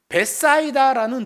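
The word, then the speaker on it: Bethsaida: 여기 벳세다는 벳사이다라는 도시예요.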